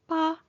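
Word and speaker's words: 八: The pronunciation of pa sounds nearly identical to the word fa which means to prosper, to become wealthy or to flourish.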